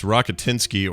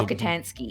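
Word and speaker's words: Rockatansky: It's Rokitinsky or it's pronounced different, but now you've thrown me. But it's that one. It's the- Rokitansky.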